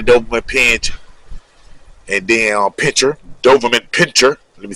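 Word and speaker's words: Doberman pinscher: It was more like you had the Doberman pinch and then pincher, Doberman pincher.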